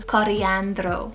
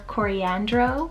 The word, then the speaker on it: Coriandro: Then for another spice name here on the list, on the boy side, we have the name Coriandro, or Coriandro. This one's a variant of coriander, so it's spelled C-O-R-I-A-N-D-R-O.